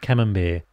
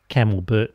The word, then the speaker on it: camembert: her first taste of camembert, and she rather enjoyed it. "That's how they do it in Melbourne," she said to her sister. "All fancy-like, camelbert and wine." I have a giggle at her mispronunciation.